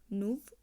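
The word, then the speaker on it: nouveau: এন ও ইউ ভি, নুভ।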